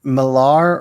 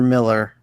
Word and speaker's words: Millar: Jamie, do you pronounce it Millar or Miller? Miller. Okay.